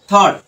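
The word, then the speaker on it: thought: watt watt আর টি এইচ এটা সমান হলো থট রাইট এই যে থট সাউন্ড করছে এখানেও কিন্তু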